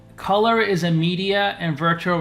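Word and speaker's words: Kolor: camera at the time in 2015 GoPro acquired color that's spelled k o l o r color is a media and virtual reality startup based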